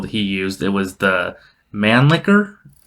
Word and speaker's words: Mannlicher: It was the Mannlicher? Mannlicher? I don't know how to say it. I like Mannlicher. I don't like Mannlicher, but... I think it's pronounced Mannlicher. Yeah, Mannlicher Carcano 6.5 millimeter Italian rifle.